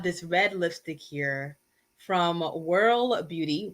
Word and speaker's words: Wyrl: I brought this red lipstick here from Whirl Beauty, Whirl pronounced WYRL.